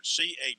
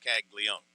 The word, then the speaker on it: Caglione: I was trying to pronounce every letter. Caglione, but it's just Caglione.